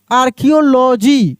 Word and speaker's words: archaeology: उसके बाद देखिए लिखा रहता है ARCHAEOLOGY, इसको हम लोग पढ़ते हैं आर्कियोलॉजी।